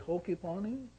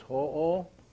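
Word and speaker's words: hoʻo: Okay, so it's ho'o. This right here is an okino mark, and so it means to give that o a punching sound.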